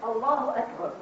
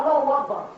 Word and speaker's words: Allahu Akbar: It's the way it's said, Allahu Akbar, not Allahu Akbar.